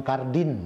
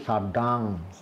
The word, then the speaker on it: Chardin: Kalau tulisan itu Simon Cardin gitu ya. Jadi bacanya dalam bahasa Prancis itu Chardin, Simon Chardin.